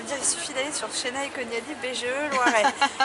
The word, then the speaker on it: Senay Konyali: Il faut aller, alors j'ai envie de dire, il suffit d'aller sur Chénaï Koniali BGE Loiret. Mais alors Chénaï Koniali, ça ne s'écrit pas comme ça se prononce.